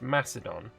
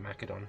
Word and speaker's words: Macedon: try and do some is it not pronounced macedon uh i don't believe so i think the greeks used a hard c or like a k sound for the seas um either way i've always just called it macadon i don't know i might be wrong but i don't know